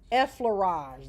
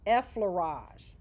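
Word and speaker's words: effleurage: The first one is e laage. That's how you pronounce it. E laage.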